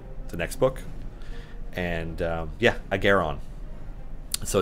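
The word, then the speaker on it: Ahghairon: Agaron, with an emphasis on the air.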